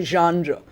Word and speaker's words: genre: notice that the word because it's a french word is pronounced genre and genre means literary